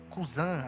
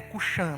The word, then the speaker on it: Cuxã: A sua Bíblia pode ter Cusã aí, mas a pronúncia mais certa é Cuxã mesmo, ok?